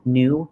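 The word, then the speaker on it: Nue: The show is called New Work, but it's spelled N-U-E, work.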